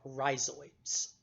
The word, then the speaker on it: rhizoids: Bryophytes are instead anchored to the soil by little tiny fibers called rhizoids. R-H-I-Z-O-I-D. Rhizoids, the silent H in there.